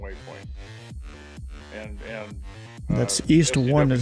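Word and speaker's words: EONE: is the second way point and and that's East one is how you pronounce it it's called it's it's what again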